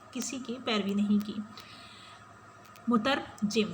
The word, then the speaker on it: مترجم: کی پیروی نہیں کی۔ مترجم، اسٹوڈنٹس تلفظ کو درست رکھیے گا۔ مترجم کا مطلب ہے ترجمہ کرنے والا، اور دوسرا ہے مترجم،